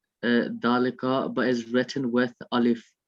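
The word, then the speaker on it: ذلك: a house and that is a mosque is pronounced uh dalaika but is written with alif without olive the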